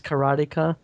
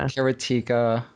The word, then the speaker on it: karateka: Which so it is karateka, karate, and then a ka at the end. Yeah, it's not karateka or whatever you kids were calling it.